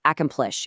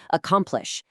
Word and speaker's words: accomplish: It's not accomplish, it's accomplish. Listen to the incorrect mechi versus the correct mechi and abundant versus abundant.